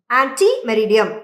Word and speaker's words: ante meridiem: இதனுடைய spelling ANTE. ஆன்டே மெரிடியம். ஓ, ஆன்டே மெரிடியம். ஆமா. ஓகேவா? வார்த்தை லாட்டின் வார்த்தை தான், ஆனா அத வந்து இங்கிலீஷ்ல உச்சரிக்கும் போது ஆன்டி மெரிடியம் அப்படின்னு உச்சரிப்போம். ஓகே, ஸ்பெல்லிங் வந்து ANTE, ஆனா அதனுடைய உச்சரிப்பு வந்து ANTI மாதிரி இருக்கணும்.